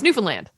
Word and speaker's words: Newfoundland: People say Newfoundland. Like they kind of like, or they over enunciate like the found. Where the emphasis on the right syllable. Mm-hmm. Yeah. But it's Newfoundland. Yeah. So not Newfoundland. No, Newfoundland. Yeah.